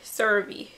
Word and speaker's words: CeraVe: CeraVe.